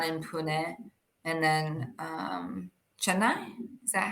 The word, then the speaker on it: Chennai: I have one in Pune and then um Chennai is that how you say it Chennai yeah all the way at the bottom yeah